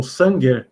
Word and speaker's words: Sanger: 1977 esse camarada aqui Frederick sanger o San gue na pronúncia né mas é inglesa ele conseguiu realizar a